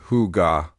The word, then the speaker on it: hygge: Specifically, the celebrated philosophy of Hyg pronounced huga.